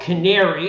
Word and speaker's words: Canāree: So our product is a product called Canāree. It's spelled C-A-N hard A R-E-E.